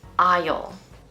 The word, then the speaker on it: aisle: Most people will say the S in this word when really it's silent, just like in our previous word aisle.